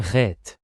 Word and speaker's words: Het: You mean it's pronounced a bit like an H but more strongly accented, am I right? Exactly. You need to scrape the back of your throat a bit to pronounce it well.